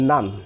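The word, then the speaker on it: naan: আবার এখানে N double A এন, N double A এন, N double A এন মানে এর উচ্চারণটা হবে নান, নান, অর্থাৎ আয়ের মতো।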